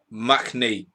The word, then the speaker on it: Mahoney: Alan Cronin, Mahoney is pronounced Machney, channeling your inner Jeff Stenn.